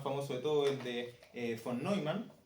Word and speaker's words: von Neumann: de todo el de von Neumann, o Neumann, no sé cómo se pronuncia. Neumann. Von Neumann, porque es gringo, pero el apellido es alemán.